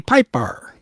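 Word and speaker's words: Pijper: The female vocalist in the chorus of the Beatles songs was session singer Jody Piper, spelled Jodypijer, the J is silent. Jody Piper.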